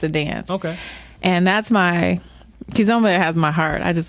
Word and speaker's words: Kizomba: first time I saw it, and actually I pronounced it, I was calling it Kizomba, but you saying it's Kizomba.